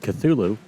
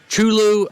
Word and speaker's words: Cthulhu: Because I know some people pronounce it Chulu, and they pronounce it Chulu in Smite, but then I hear other people call it Cthulhu.